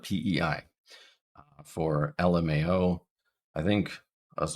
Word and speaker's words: PEI: So for Prince Edward Island, we don't call it pay, we call it PEI.